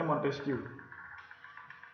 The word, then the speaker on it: Montesquieu: Yang pertama menurut John Locke, yang kedua dari Montesquieu, ya, bacanya Montesquieu.